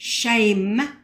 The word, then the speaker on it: Shem: You can see there in the Hebrew Concordance that Shem, pronounced shame, means name.